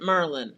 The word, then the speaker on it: Maryland: Maryland. Merlin. How do you say it? How you say it? Maryland or Merlin?